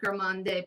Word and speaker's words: Gourmande: And her Galactic Gourmande palette, which is this one here. And they are must-haves. Gourmand. The E is silent.